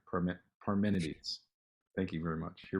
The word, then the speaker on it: Parmenides: That's what I say, but I mispronounce things all the time. No, yeah, that sounds right. Parmenides.